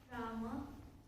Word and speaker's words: Ram: spell it? Rama or Ram? Ram. So if I say Rama accidentally, is that wrong?